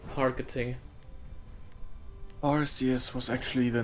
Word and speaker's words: Arceus: Arceus was actually the name of a competitive Gen 4 Arceus set. Back when people still thought it was a soft C.